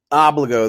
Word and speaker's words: Obligo: to know how to say it but it's pronounced obliga the new standard for security deposits zero locked